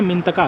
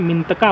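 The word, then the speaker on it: Mintaka: मिथंतका। क्या नाम है? मिंतका पास। क्या नाम है? मिंटका पास।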